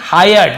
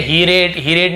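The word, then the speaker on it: hired: ही हायर्ड a donkey, ही यानी वह या उसने हायर्ड, देखिए इसे हायर्ड पढ़ेंगे, आई के साथ आ रहा है तो है ना, आयर, ऐसे उसका उच्चारण हायर्ड, ठीक है, हीरेड नहीं पढ़ेंगे, आपको सुनने में बहुत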